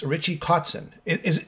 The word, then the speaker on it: Kotzen: metal voice it's richie cotson it is am i pronouncing your name right codson cuts and yeah there you go cotson k-o-t-z-e-n richie with no t-r-i-c-h-i-e